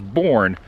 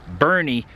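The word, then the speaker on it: Boerne: a town by the name i believe it's pronounced bernie i thought it was born but i i asked the hotel last night they said it was bernie and yeah i'm just i'm just waiting it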